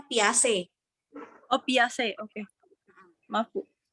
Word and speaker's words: Piaget: Nah, teori belajar ini diantaranya ada teori Piaget yang oleh Jan Piaget. Ya. Bacanya Piaget.